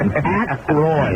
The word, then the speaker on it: Aykroyd: Ackroyd.